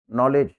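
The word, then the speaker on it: knowledge: ठीक है इधर देखिए जब एन के पहले के आ जाता है य साइलेंट होता है इनका उच्चारण एन से शुरू करेंगे नीड नाउ नाइफ नॉलेज है ना नॉलेज में के एन आता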